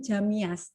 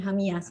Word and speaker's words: Jamias: tulisannya Jamias, tapi Yes. untuk bacanya Hamias, right?